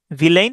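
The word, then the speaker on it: villain: ভিলেন, ভিলেন বানানে দুইটা বানান আছে, মানে দুইটা ভাবে উচ্চারণটা করা যায়। এটা হচ্ছে ভিল্লা ইন, ভিল্লা ইন, ভিলেইন। আর এটা হচ্ছে ভিল লা ইন, আলাদা আলাদা করে।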